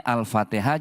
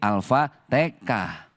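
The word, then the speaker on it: Al-Fatihah: Sama orang tua kita dulu nih di Jawa kan enggak bisa bilang huruf H. Makanya Alfatihah jadi alfatah.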